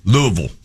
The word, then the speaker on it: Louisville: Just for those that are thinking it, Pat, just so you know the proper pronunciation, Louisville.